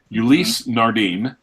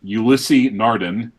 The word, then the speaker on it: Ulysse Nardin: these brand names properly Richard Ricard retired me lay not Richard Mille Elise Nardin not Ulysse Nardin a leg a and